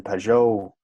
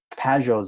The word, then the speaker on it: Pageau: And Pageau's ideas, I always pronounce his name weird. Pageau. That's the way to pronounce it, isn't it? Yeah, I guess I Pageau? put the emphasis on the wrong syllable, as they say.